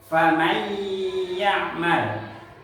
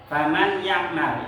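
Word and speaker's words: فمن يعمل: Cara bacanya yaitu famay ya'mal, didengungkan dan ditahan kurang lebih 2 sampai 3 harokat. Faman ya'mal, jangan dibaca faman ya'mal. Faman ya'mal itu salah, jangan dibaca nun matinya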